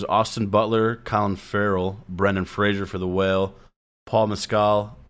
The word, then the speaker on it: Fraser: Fraser, like razor. That's how he pronounces his name.